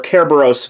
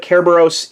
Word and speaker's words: Kerberos: is Cerberus Voyager or Kerberos Voyager as it can also be pronounced that's actually how it's written out in katakana here I'm fairly sure that Kerberos is closer to the original Greek I could be wrong